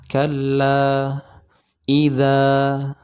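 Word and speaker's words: كَلَّا إِذَا: kita ketika membuka mulutnya contoh ketika kita mengucapkan lafaz Kalla nah ini barusan adalah contoh yang diucapkan dengan tidak membuka mulut tapi ee biasa saja mulut ini tidak kita buka dengan sedangah Saya ulangi ka idza nah ini kurang tepat Ya seharusnya Bagaimana seharusnya diucapkan seperti ini Kalla idza nah contohnya Nah yang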